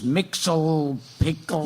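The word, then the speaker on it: Mxyzptlk: I never knew how to say his name, by the way. Yeah, no one does. Yeah, it's a bunch of consonants. Say it again. I say it Miss Yes Big Lick. Others is Mixel Pickle.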